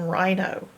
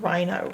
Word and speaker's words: rhino: The only part you gotta learn by heart that's odd is this H that you can't hear. Silent H in rhino.